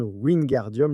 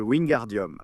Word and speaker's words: Wingardium: que Ron prononce mal Wingardium. Le gar, en fait, et là Hermione le corrige, en disant que le gar doit être plus lent, plus long en réalité.